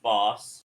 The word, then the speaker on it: bas: So we've got snake, which is Nash Tabash, bear, Oru Kadid, a herbivore, which is just boss, B-A-S is the pronunciation on that one, by the way.